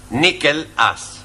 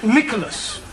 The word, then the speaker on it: Nicholas: upon a time there was a man called Nikhil us once upon a time there was a woman called Nikhil it's pronounced Nicholas all right once upon a time there was a man called Nikko last he was supposed to man poster man a